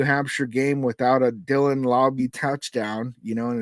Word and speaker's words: Laube: So I've heard his name be pronounced different ways. Um, when I was watching tape on him, they were calling him Laube, and so I'm going to roll with that until I'm corrected.